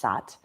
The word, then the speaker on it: Sat: is the sound of it's spelled SAT and it's pronounced saath saath is the seed